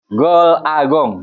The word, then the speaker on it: Gol A Gong: Dan kalau kamu sukses semuanya karena Allah a gol agong dibacanya golagong itu kesuksesan berasal dari Allah Subhanahu wa taala.